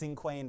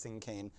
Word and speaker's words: cinquain: It looks like it's pronounced cinquain, but it's cinquain.